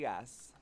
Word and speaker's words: Isaias: How do you pronounce that tropical storm back in 2020? Isaias.